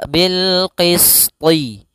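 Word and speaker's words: بِالْقِسْطِ: Kemudian pada lafal Qisti tho ini jangan dibaca Qisti Jangan dibaca qistiwal tapi dia huruf tho wa bilqisti bilqisti TH kasrahkan kemudian wala ada Mad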